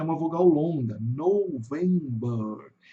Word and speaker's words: November: November. November. Então o November em inglês vai ter um som de o U entre o O e o V. Aqui vai ter porque é uma vogal longa. November.